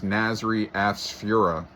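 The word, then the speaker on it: Nasry Asfura: The president of Honduras, Nasri Afsfura, is the correct pronunciation.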